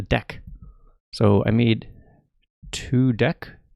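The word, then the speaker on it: deque: And the way you pronounce it is a deck.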